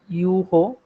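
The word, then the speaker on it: heureux: For example, the word for happy in French, it says uho. If I give you one ponyetic, the pronunciation will be like this. Uho.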